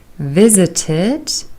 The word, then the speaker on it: visited: pronounced with de arrived visited Ed is pronounced as ID visited talked Edie is pronounced